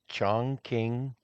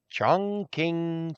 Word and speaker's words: Chongqing: Chongqing, China. And the king is spelt with a Q. Chongqing.